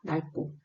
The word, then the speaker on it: 낡고: 겹받침 리을 기역의 경우에는 뒤에 자음이 오면 기역으로 소리 나는 것이 원칙입니다. 그런데 자음 기역이 뒤에 오면 리을로 소리를 냅니다. 예외가 좀 특이하죠. 그래서 같은 어간을 가지고 있음에도 낙다, 낡고, 막다, 막지, 맑고, 붓다, 붉고, 박다, 박지, 밝기.